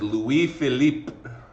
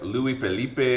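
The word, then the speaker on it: Louis-Philippe: with a new king and his name is Louis Philip Louis Philip okay um is how you pronounce his name a lot of kids look at that and they think it's like Louis Felipe or something like no all right it's he's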